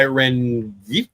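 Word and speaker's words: Rengifo: Swinging a miss by Renie. Don't think the G is pronounced, but I did.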